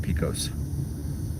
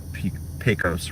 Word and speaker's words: Pecos: I've had several viewers tell me that it's pronounced Pecos and not Pecos. So Pecos it is.